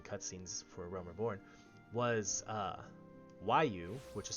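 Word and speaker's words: Roaille: post-game and watching cutscenes for Realm Reborn, was Waiu, which is spelled R-O-A-I-L-L-E.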